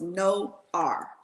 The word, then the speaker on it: Noir: So it's No R. Okay. It's Noir, but you pronounce it No R.